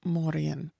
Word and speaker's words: Mórrígan: So, in modern Irish, what we would say is Mórrígan.